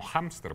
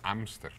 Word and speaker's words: hámster: con J, y que los extranjerismos ingleses o alemanes conservan la pronunciación del H en español como hámster, por ejemplo, no decimos ámster.